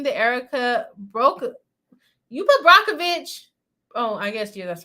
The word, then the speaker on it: Brockovich: am I calling it brookeovic Brockovich yes I was saying it wrong says there was